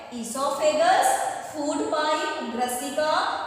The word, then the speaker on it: esophagus: उसे बोला जाता है ईसोफेगस। ओ यहाँ पे साइलेंट होता है, ईसोफेगस, फूड पाइप, ग्रसिका, या इसको हम भोजन नली भी बोलते हैं।